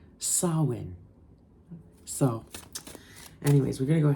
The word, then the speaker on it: Samhain: so yeah I wanted to correct that it's pronounced Sinn so anyways we're going to go ahead and